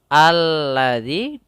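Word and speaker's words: الَّذِي: huruf setelahnya pada dasarnya di sini alladzi ada dua huruf yaitu Alif dan lam yang di mana ditandai dengan lam double di sini sehingga lamnya ada dua alladzi cara membacanya langsung ke lam yang bertasdid kamalil Kemudian pada lafal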